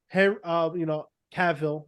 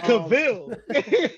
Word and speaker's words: Cavill: Cavill, I always say his last name wrong, but I like the way you say it, though.